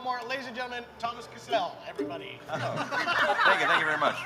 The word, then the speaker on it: Cassell: That is Cassell, and it is not pronounced Cassell, it is Cassell.